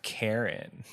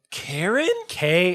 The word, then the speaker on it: Karin: The sacred yet ominous land of Karin. Karen? Okay. Do you tell me how to say it? Because it's Karin. That's Karen. That's a Karen.